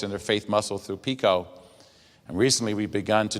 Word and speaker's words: PICO: director of the pico national network and it's pico although we have a funny name we're going